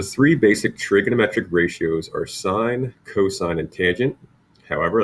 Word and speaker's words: sin: abbreviate them so for sine s I&E we like to write the word SI n now please make sure you don't pronounce that sin it's we call it still call sine the cosine we write